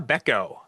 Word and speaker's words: Bechko: Um but it's Karina Beco. Yes. Rhymes with gecko.